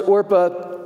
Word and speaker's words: Orpah: did you know that oprah winfrey's real name is orpah it's just that people began mispronouncing it so much that she just adopted oprah it's true look it